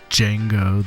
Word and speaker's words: Django: such seminal figures as Django the D is silent Reinhardt and Charlie Christian